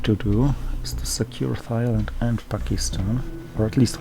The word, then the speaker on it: Thailand: then i looked and i realized it's actually pronounced thailand as if it was written without age after